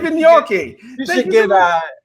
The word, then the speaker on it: Vignocchi: Is that how you pronounce Vignocchi, huh? it? Vignocchi.